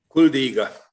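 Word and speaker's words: Kuldīga: a small town, which the name I cannot pronounce, in Kuldiga. Latvia. You do it for me, David. Kuldiga.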